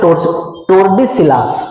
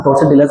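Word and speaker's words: Tordesillas: ठीक है, उसके बाद ट्रेटी ऑफ टोर्डेसिलास. इसका स्पेलिंग देख लीजिएगा, थोड़ा सा हम टोर्डेसिलास बोल लेते हैं. स्पेलिंग है TORDE, टोर्डेसिलास.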